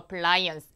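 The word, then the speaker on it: appliance: 보시면 될 거 같은데 자 발음 같은 경우에 플스가 아니라 플라이언스 라이언스 기억해 놓으시면 좋을 것 같아요 가정 기기 자 그다음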